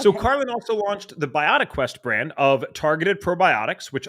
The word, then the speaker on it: BiotiQuest: Is it BiotiQuest or is it pronounced differently? It's BiotiQuest.